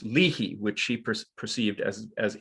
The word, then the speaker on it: Leahy: a brit said well actually it should be pronounced liahi so he kind of made a kind of a hybrid name out of it or whatever so but leahy is generally what i go by so well